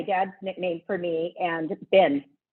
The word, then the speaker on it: Bin: nickname for me and bin which is b-i-n because it rhymes with lynn that's all but i